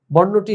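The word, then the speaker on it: بارہ: তহলে বারা এরকম না শেষে যে হে বর্ণ আছে এটা উচ্চারণে আসবে না বরং আমরা বাংলাতে তার উচ্চারণ লিখেছি ব আকার বা র আকাররা বারা ঠিক তোমরা একইভাবে ভাবে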